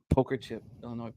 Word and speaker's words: Illinois: I got the Illinois poker chip. I know we don't pronounce the S.